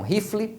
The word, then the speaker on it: rifle: Quando a primeira sílaba termina na vogal, você vai pronunciar a vogal igual você pronuncia no alfabeto.